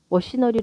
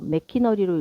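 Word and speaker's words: machinery: 머시너리 지막 혹시 마지막 단어를 읽을 때 하지 않았는가 머시너리 읽어야 하는데 순간적으로 메키 너로 읽진 않았는가 아마도 상당수의 독자들이 그렇게 읽었을 것이다 앞서 제시된 단어들을 읽는 동안 독자들의 마음은 이미 C CH 크로 발음하도록 준비되어 있었기 때문에 자신도 모르게 어시를 메키 너로 읽게 되었을 것이다 난 안 그랬는데요 엄마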